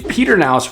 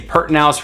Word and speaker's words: Pedernales: You also have the Pedernales River, which most of the locals say Pertinalis River, but that's located to the east of Harper.